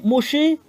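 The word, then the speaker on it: משה: effet si vous croyez Moché euh vous êtes étonné pourquoi vous vous prononcez toujours Moché parce que c'est le vrai nom de Moché ou Moïse euh c'est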